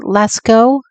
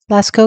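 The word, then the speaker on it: Lascaux: the um how do you say it John Lasko Lasco cave paintings okay um and the Alaska cave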